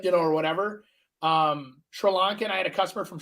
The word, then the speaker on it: Sri Lanka: know or whatever um Sri Lankan I had a customer from Sri Lanka and uh surely Lanka as they told me I said it wrong uh Sri Lanka and